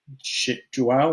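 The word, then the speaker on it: João: Pronounce Joao, one syllable?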